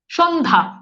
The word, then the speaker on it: সন্ধ্যা: আসেন খেয়াল করে দেখেন, যেমন দেখেন সন্ধ্যা, সন্ধ্যা। এখন দেখেন তো এই যে এখানে একটা যুক্ত ব্যঞ্জন আছে না, এই যে দেখেন সন্ধ্যা, জফলার উচ্চারণ কিন্তু নাই। সন্ধ্যা জফলা কিন্তু উচ্চারিতই হচ্ছে না।